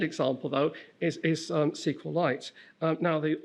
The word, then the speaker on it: SQLite: My second example though is is um SQLite. Um now, the author says he pronounces this SQLite, but he also says he doesn't care how anyone say it. So, I tend to say SQLite because that's easier.